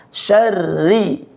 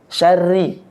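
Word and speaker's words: شَرِّ: masuk di dengung minyarri syarri tipiskan ya pembacaan hurufnya itu ditipiskan bukan syarri Syari tapi Syar Ri Ri Ri tipis G disempurnakan baris kasrahnya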